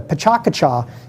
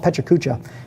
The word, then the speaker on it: PechaKucha: together on that pachakacha i learned how to say it properly the pachakacha if you've never heard of pachakacha it's a presentation style some people call it pechakucha but it is 20